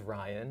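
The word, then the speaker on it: Rian: Yeah, his name is Ryan. It's spelled R-I-A-N.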